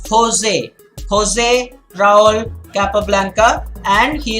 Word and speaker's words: José: pronunciation very important pronunciation the pronunciation is Jose the spelling is j po SP but it is josé josé raúl capablanca and